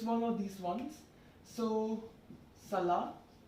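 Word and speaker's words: cela: So Sala, Cerci, and Sir.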